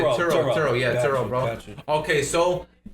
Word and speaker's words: Turo: Turo. Oh, Turo. Yeah, Turo. Churro, way. I thought it was an A4. My mom was I thought it was. I'm like, churro? What's churro? Now I said Turo.